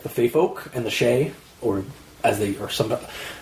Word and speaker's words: Sidhe: It's actually pronounced Shay because it's Gaelic.